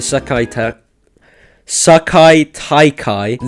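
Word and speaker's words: Sekai Taikai: up and it's really only focused on the Sakai Taikai.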